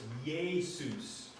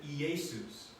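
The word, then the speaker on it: Ἰησοῦς: in the name Jesus the vowel combination of those two is to mirror the Hebrew Aramaic yode sound so they are pronounced together as ye so it's Jesus I used to pronounce it eesus until I was taught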